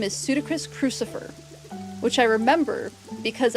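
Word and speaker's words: Pseudacris: So its scientific name is Pseudocris crucifer, which I remember because I just remember Ludacris, like the artist, and I remember Ludacris, and then that rhymes with Pseudocris, and then it has a cross on its back, so crucifer.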